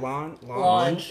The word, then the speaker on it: L'ange: Lange.